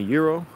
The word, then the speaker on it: gyro: Justin, my mom pronounces it gyro, weirdly enough. That's how I learned it when I was a kid. So when I go to restaurants and order it, or Greek festivals really, sometimes they like say, oh, you mean a euro? Whatever. I didn't know that's how it's pronounced, but she always said gyro.